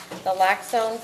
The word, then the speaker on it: naloxone: equip themselves and train for the use of naloxone, is that how it's pronounced?